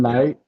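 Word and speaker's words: Knecht: you pronounce his name I think it's Knight Knight spelled weird but you pronounce it Knight dalon Knight really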